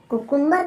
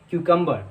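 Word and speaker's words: cucumber: नहीं नहीं, कुकुम्बर कुकुम्बर, मेरी अरे प्रोनाउंसिएशन लड़ो ठीक मत, है। तुम लोग लड़ने क्यों लग जाते हो बात बात पे। इसकी राइट प्रोनाउंसिएशन होती है क्यूकम्बर, कुकुम्बर नहीं, क्यूकम्बर, क्यूकम्बर।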